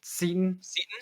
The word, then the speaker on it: Seton: uh gawking about xavier is it satan or is it um i've been saying seton hall i do believe that is the pronunciation and i also right